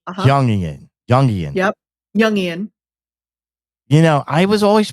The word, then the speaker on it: Jungian: It's pronounced Jung, like a Y, Jungian. Uh-huh. Jungian.